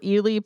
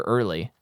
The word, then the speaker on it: Ealy: Is it Ealy or Early? There's no R. Oh, wow. My brain just said Early when I looked at it. It's spelled Early without the R.